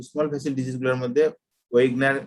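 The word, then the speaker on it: Wegener: Medial large vessel vasculitis আছে, medium vessel যেগুলো আছে, স্মল ভেসেল ডিজিজ গুলোর মধ্যে ওয়েগনার বা ভেগেনার, কেউ কেউ এটাকে ভেগেনার উচ্চারণ করে, ভেগেনার বা ওয়েগনার গ্রানুলোমাটোসিস বলে।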